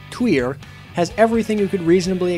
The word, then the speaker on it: Týr: is an excellent band tier or if you're not a English speaker like myself and can actually pronounce it right twer has everything you could